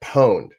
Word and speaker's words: pwned: want to share with you is to get pwned. Now, for folks, pwned means someone has found a vulnerability in your system. And, you know, the worst vulnerability, the more pwned you are.